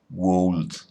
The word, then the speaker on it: would: en su nombre, pero esa L no se pronuncia. No decimos would, decimos would, no decimos should, decimos should.